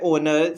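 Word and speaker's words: honour: बात करते हैं ओनर, स्टार्टिंग तो यहाँ पे एच से हो रही है, बट यहाँ पे जो एच है वो साइलेंट है और जो साउंड प्रोड्यूस हो रही है वो हमारे पास वॉवल हो रही है ओनर।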